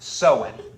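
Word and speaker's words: Samhain: e i n so it's spelled like Sam hanne or something but it's pronounced seen so this Festival seen which was a Celtic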